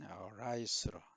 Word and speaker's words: rice: 자, 우리가 배라 하면은 rice로 이 발음 RIC입니다. 발음 잘못하면 이 LIC, rice는 뭐죠? 이죠, 이. 이가 돼버립니다. 머리에 이. 그래서 발음 rice, 남들이 뭐라 해도 이 발음에 충실하기 바랍니다. 수학 및 수학고 관리죠.